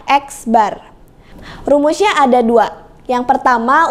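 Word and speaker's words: x̄: di atasnya ada garisnya ini dibacanya adalah x bar rumusnya ada dua yang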